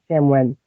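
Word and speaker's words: Samhain: is also um I always say this wrong Samwen I think is what a sam h e i n e but it's pronounced like Sam Samwen um and uh so that's what I follow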